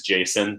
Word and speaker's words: JSON: I guess they're typically they're the actual pronunciation is Jason but I hate calling them JSON files I don't know I prefer to call them JSON but this should look